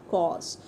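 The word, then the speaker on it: coarse: शी हैज़ कॉस red hand, देखिए इस word में आर साइलेंट है। कॉस, कॉस मीन्स होता है रफ, कि उसके हैंड्स बड़े ही रफ हैं।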